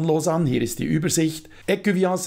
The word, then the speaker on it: Ecuvillens: Écuviance ist übrigens die korrekte Aussprache. Im Kanton Fribourg spricht man ein S am Ende tatsächlich aus.